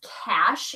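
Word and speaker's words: Cache: at a thrift store this is cash is how you pronounce it hold up the tag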